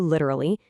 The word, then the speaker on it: literally: Stop overpronouncing them. Probably becomes probably. Different turns into different. Literally collapses to literally.